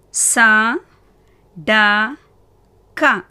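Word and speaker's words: सड़क: சா டா கா. முதலாவது சா, இரண்டாவது டா, மூன்றாவது கா. கா என்ன? வியஞ்சன். ஸோ எப்படி உச்சரிக்கணும்? இக். சடக். சா டா கா சடக்.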